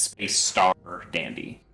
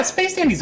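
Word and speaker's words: Space☆Dandy: the same this is space dandy baby also there's a star between space and dandy oh okay that's yeah it's space star dandy just don't pronounce the star uh yeah space dandy's okay i i enjoyed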